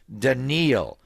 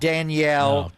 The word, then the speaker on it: Daniil: This year it's Daniil. Not Danielle or Daniel.